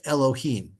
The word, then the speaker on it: Elohim: see different vowels on this word because it's pronounced Elohim even though it's these three word four letters